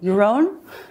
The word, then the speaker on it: Yaron: I go, well, Yaron rhymes with maroon.